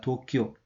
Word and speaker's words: 도쿄: 일본은 도쿄라고 읽습니다. 도쿄.